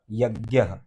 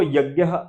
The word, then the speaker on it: यज्ञ: की सिद्धि करले अा जैसे जो परंपरा वाले हैं जैसे बनारस आदि जो गुरुकुल में पढ़ते हैं तो इसको यज्ञ इस प्रकार से इसका उच्चारण करते हैं प्रोनाउंस करते जोर समाज वाले हैं वह इसको यज बोलते हैं ठीक है तो वो